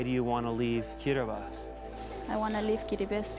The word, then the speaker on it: Kiribati: Half a world away and surrounded by the Pacific Ocean are 33 picturesque islands which make up the Republic of Kiribati, or Kiribati as locals say.